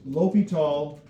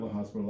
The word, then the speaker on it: L'Hôpital: So you will hear it pronounced L'Hôpital and not La Hospital, that was, you know, that's just whatever he remembers.